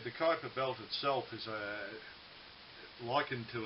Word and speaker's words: Kuiper: It is pronounced Kuiper, I believe.